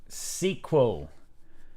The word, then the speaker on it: SQL: bart fast is from guy in the online open day at bath pronounces sql well he's wrong he's probably a windows user that's like the level of wrongness um anyway right uh so sequel sequel do we know